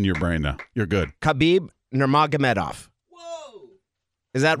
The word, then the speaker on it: Khabib: Some will go silent K, and some will pronounce it. Oh, Habib?